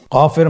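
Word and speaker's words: كاف: কাফ উচ্চারণের ক্ষেত্রে অবশ্যই পাতলা করে উচ্চারণ করতে হবে এবং 3 আলিফ টেনে পড়তে হবে।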